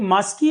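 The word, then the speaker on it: Maski: अशोका के समय की मिल पाई हमें एक मास्की एडिक्ट है कर्नाटक में मास्की एडिक्ट मास्की ये स्पेलिंग है एम ए एस के आई मास्की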